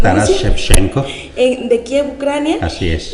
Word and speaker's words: Taras Shevchenko: Taras Shevchenko, corríjame doctor, Así ¿cómo es, se pronuncia? Taras Shevchenko.